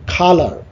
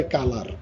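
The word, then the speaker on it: colour: তারপর হচ্ছে খালার, খালার হচ্ছে তোমার সাউন্ডটা ফলো করবা, আমি যেভাবে উচ্চারণ করি। অনেকে বলে কালার, নট কালার, ইটস এ খালার।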